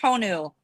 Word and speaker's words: Honu: And the DJ is is is uh turtle is pronounced Honu in Hawaiian in the book.